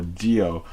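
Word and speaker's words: Zi-O: things for Kamen Rider Zeo, or Dio, as he's going to be otherwise referred to. The spelling is Zeo, but the pronunciation is like Geo, so just wanted to make that clear.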